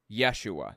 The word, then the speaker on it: Yeshua: The Hebrew version of it would be Yeshua, though. Jesus, Greek, Yeshua, Hebrew. He probably, or maybe it was Aramaic, I'm not sure. He probably walked around pronouncing his name Yeshua, personally.